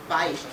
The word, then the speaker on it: Beisch: And you did raise your hand, Beisch, because it's a diphthong. The A and the I form a diphthong. Okay, remember that from school, folks? Okay, all right. Okay. So Todd Beisch is an architect, and